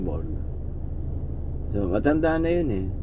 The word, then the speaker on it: Borge: Pero ang spelling Borge. Ang pronunciation Borga.